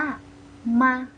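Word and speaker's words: 吗: ถัด ไป นะ คะ คำ นี้ ออก เสียง ว่า มา อามา ถ้า ไม่ ใช่ ออก เสียง มา เลย นะ คะ ให้ ออก เสียง เบา นะ คะ แต่ คุณ เมย์ เขียน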